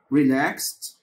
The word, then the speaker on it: relaxed: relaxed طبعا حرف الاي هنا silent وبننطق الدي زي حرف التي. relaxed.